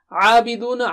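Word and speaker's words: عَابِدُونَ: Abiduna. Ayn should be clear. Abiduna. Mad is there and oo. Make your lips round.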